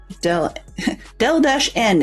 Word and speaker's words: Delen: Del-N is the way a lot of people have been able to pronounce it correctly, but even so, there are still quite a few around here that call me Del, so I will answer to it.